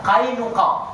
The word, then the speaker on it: Qainuqa: Qainuqa, angel bahasa Jawa nih. Ya, qaf ketemu ya mati, qaf lagi, ain lagi.